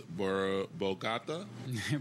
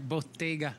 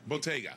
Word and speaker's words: Bottega: It is Bogata? Bottega. Bottega. Italian.